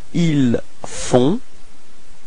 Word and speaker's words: ils font: Ils font. Okay, so you've got this nasal O-N, on. Okay, and then the final T is not pronounced.